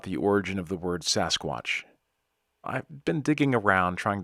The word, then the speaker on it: sasquatch: of an indian word j.w burns coined the term sasquatch which is an anglicized version of the alkamelum pronunciation saskets burns who worked closely